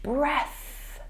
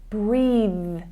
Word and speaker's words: breath: Taking a huge breath. Okay, that's an unvoiced sound. I think that you slightly mispronounced that word in the recording and said breathe instead. So that changes, and it's using the voiced consonant sound when we use breathe.